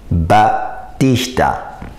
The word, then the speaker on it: Baptista: o nome de alguém Batista é a pronúncia mas a escrita temos aqui Baptista imagina se a gente